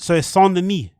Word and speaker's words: Saint-Denis: Stop pronouncing the S at the end of Saint. So it's SAINT-DENIS.